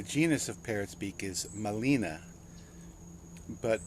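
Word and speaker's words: Gmelina: Molina. G is silent.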